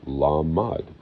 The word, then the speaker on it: lamed: Gamel, it's literally spelled with three letters, a gamel, a meme, and a lamed. Lamed, L-M-D, lamad, lamed.